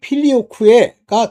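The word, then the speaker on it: Filioque: 근데요 아들의 위격이 하나님과 동일하다는 걸 부인한 첫째 사건이 뭐냐면 필리오쿠에 사건입니다. 쿠에는 Q자에다이 2이가 붙어서 에라고까지 붙여야 되는데 뭐 걔네들이 발음하는 식으로 필리오쿠 뭐 이렇게 했는데 필리오쿠에가 이제 정확한 발음이라고 전 봐요. 라틴어 발음으로 바로이 사건으로 동방정교회와 서방 카톨릭 교회가 분열이 됩니다.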